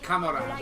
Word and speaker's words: camarade: Camarade. I know that's how you pronounce it.